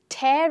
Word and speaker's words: tear: last sentence that we have upon seeing the tear in the painting i shed a tear so i'm pronouncing these two words very differently this is